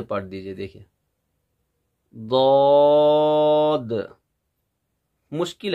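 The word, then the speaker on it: ض: देखिए यहाँ से आप पढ़ेंगे ऐसे दौद, जब जिसको हम सही से प्रोनाउंस करते हैं तो ना पूरी कंप्लीट दौद की आवाज़ निकलती है ना मुकम्मल जौद की आवाज़ निकलती है, बल्कि इनके बीच में एक खूबसूरत आवाज़ निकलती है। जैसे दौद, अब अगर पढ़ेंगे अद,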